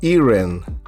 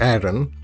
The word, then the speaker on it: Eren: got the hero intro for Erin or Aaron okay however you want to pronounce it I think it's Aaron okay so yeah so we